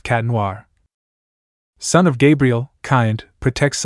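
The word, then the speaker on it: Chat Noir: Adrien/Chadenoir, pronounced Cat Noir.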